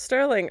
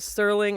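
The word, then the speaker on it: Serling: and written by Rod I did say Sterling and I realized in the credits that there's no T So Rod Sterling I hope I'm pronouncing that correctly now and yeah again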